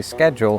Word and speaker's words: schedule: Because in English, most words that begin s c are pronounced sk. Usually not as high pitched as that. Think of school, scholar, scholastic. These are all words that came from Latin just like schedule. And in the English language, the exception to this are words like shardan that came from German.